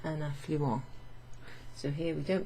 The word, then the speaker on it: affluent: then also we have the same spelling affluent, where you don't pronounce the ENT. Les poissons affluent à un affluent.